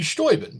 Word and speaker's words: Steuben: Well, technically it would be Stoben because he's okay.